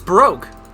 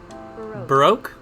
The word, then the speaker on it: baroque: know how to say pronunciation maybe let's go pronounce this oh so that is how you say that it's broke baroque so it's broke period wow i swore i